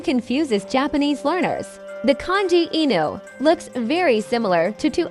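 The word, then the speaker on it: いぬ: Before kanji came to Japan, the native Japanese reading was enu. The reading that came from China together with the kanji is ken.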